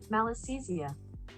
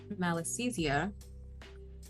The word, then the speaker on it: Malassezia: Malassezia. Malassezia. Malassezia.